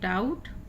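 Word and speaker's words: doubt: उच्चारण नहीं होता है, यानी जब भी टी से पहले बी आ जाती है तो बी साइलेंट होती है।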